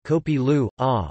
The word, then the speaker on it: kopi luwak: Kopi Luwak, Indonesian pronunciation, Kopi Lu, or civet coffee, is